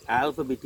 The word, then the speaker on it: alphabet: How to convert alphabet into numerical digits. I pronounce the word alphabet. See, A-L-P-H-A, alphabet. P-E-T, alphabet. It is not alphabet.